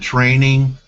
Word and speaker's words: Trening: Okay, so it's Trening, right? Yes, Okay, TR. so there's a D missing from trending, but it's Yes, it is. trending. And Yes. and you pronounce it training because you teach people how to trade?